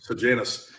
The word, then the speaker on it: Sejanus: How do you pronounce it? Janus. Sejanus.